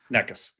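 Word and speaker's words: Nečas: Nikas. Nekas. All right. Need He's Czechoslovakian. I can't even I know Subie can't spell that.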